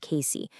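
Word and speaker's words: Cayce: That's spelled C A Y C pronounced Casey.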